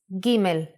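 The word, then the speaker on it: גימל: the aleph bet is gimel the sound of gimel is G let's first see how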